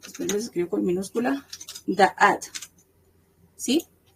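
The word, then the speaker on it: דעת: En hebreo es da'at, con T al final.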